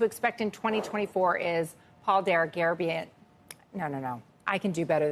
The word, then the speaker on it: Dergarabedian: Joining us now to discuss what to expect in 2024 is Paul Dergarabedian. No. I can do better than this. Dergarabedian.